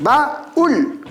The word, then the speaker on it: baúl: La palabra baúl también tiene 2 sílabas, baúl, y la mayor fuerza de voz recae sobre la vocal débil. Al recaer sobre la vocal débil, le coloco tilde, y eso produce el hiato.